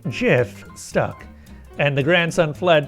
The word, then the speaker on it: GIF: It was based on the jar of peanut butter, so it needed a soft G, no matter what rolled off the tongue better and whether the word was graphics.